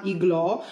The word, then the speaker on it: Iglo: Ehm, poi ho preso questi da Findus, che qui nei Paesi Bassi si chiama Iglo o Ilo (questa dovrebbe essere la pronuncia olandese, perché la G viene quasi sempre letta come una H) e.